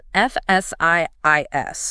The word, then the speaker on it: Fsiis: Fsiis makes sense. But the rule they outline is incredibly specific. It dictates that the name should sound exactly like the English phrase F-siis, but with the howl completely removed.